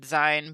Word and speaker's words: zine: for me because like you and aaron both said design but then you also said zine and i say zine because it's short for magazine it's far from magazine